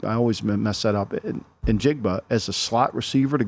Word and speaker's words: Njigba: And then getting Smith Njobi, is that how you say his name? Njigba. Yep. I always mess that up. Njigba as a slot receiver to go along with Lockett and Metcalf.